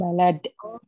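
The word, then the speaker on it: بلد: Jadi kalau lamnya panjang itu bacanya bilad. Bilad. Kalau lamnya pendek balad gitu, ya.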